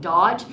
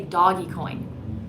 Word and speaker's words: Dogecoin: Every time I say Doge, I have to think about it to make sure I'm not saying Dodge, but my heart wants to say doggy coin. So I might just call it doggy coin.